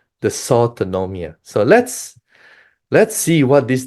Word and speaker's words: dysautonomia: Okay, dysautonomia, that's how you pronounce it, in COVID-19.